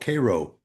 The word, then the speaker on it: Cairo: It's called Cairo.